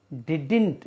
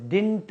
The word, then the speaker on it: didn't: को short form में डिडिंट, इसका प्रोनाउंसिएशन होता है, इसका तलफ़ुज़ डिंट नहीं होता है। देखिए हमको डिंट नहीं होता है, डिडिंट होता है।